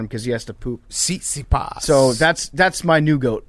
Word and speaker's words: Tsitsipas: Jake, how do you pronounce that guy's together. name? Sissipas? Tsitsipas.